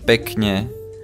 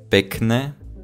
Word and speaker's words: pekne: Okay, so we are gonna pronounce this one as teta, this one as pekne, rodina, ticho, not ticho, not rodina, not pekne, but soft.